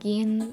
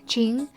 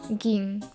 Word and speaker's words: Gin: For the longest time, I thought that Gin was actually, like, pronounced Jing.